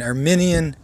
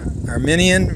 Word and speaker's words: Arminian: dispute or differences between our minion versus Calvinism i say armenian not it's spelled I a RM I and I and I'm not speaking of the Armenian nation which is spelled AR and en and so talking about